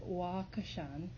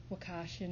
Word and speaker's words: Wakashan: So I pronounce it wakashan. I know that I hear people saying wakashin and everything, but it always brings me into a place of being grateful.